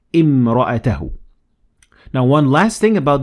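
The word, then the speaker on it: امرأته: But if I started at the word, I will say imra'atahu.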